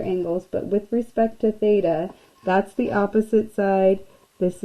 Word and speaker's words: theta: here and the angle that we're referencing is Theta so say theta this is how you pronounce this guy right here that's a Greek